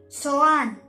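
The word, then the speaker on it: soğan: जिस तरह इंग्लिश में हम कहते हैं साइलेंट हो जाएगा। इंग्लिश में अनियन, प्याज को ये लोग टर्किश में कहते हैं सोआन।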